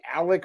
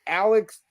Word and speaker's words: Alex: __ ] over yourself that's not his name it's Alex murdon he's a bad guy